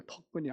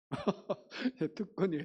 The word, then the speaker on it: 특권: 특권을 가지고 있는 사람입니다 특권입니다 특근이 아니고 우리 맨날 집사람한테이 발음 때문에 혼나는데 특 특이해요 토이에요 특권이에요 특근 자 우리 영혼은 그래서 하나님께서